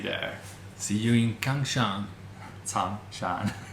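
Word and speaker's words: Cangshan: Changshan. It's Kang. No, but it's like pronounced like Tsang.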